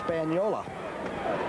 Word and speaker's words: Spagnola: tom will you please straighten out the pronunciation of spagnola's name that the italianos the real italian people say it's it's spaniola so i said this